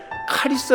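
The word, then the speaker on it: χάρις: 여러 너네 라는 말은 헬라어 인데 원래 카 리 스 라 고 발음을 합니다 그 뜻은 받을 자격이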